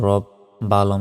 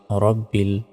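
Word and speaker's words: رَبِّ: হাজিরহি লিল্লাহি রব জবর রব বা লাম জের বিল রব্বিল আমরা অনেকে রাব্বিল বলি এটা ভুল রব্বিল বলতে হবে আইন খারা জবর আ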